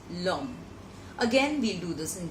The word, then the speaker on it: l'homme: For example, l'homme, which is le homme becomes l'homme.